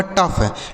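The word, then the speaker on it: tough: फ तो यह लिखा गया आपका टफ। टी ओ यू जी एच यह लिखा गया दोस्तों टफ।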